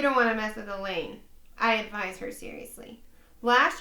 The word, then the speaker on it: Elaine: asks me about her that's Elaine I reply runs with pain she frowns everybody says that rhymes with pain what does it mean you don't want to mess with Elaine I advised her seriously